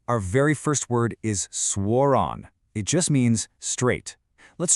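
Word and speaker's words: suoraan: Kind of like the English word swore and then ron. Swonon. Say it with me. Swronon.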